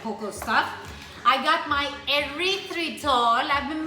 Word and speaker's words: erythritol: I got my erythritol. I've been mispronouncing this thing.